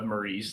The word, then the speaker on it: Marie: um because in the Japanese it's pronounced mari and so it's it's putting the stress on a different syllable and it got it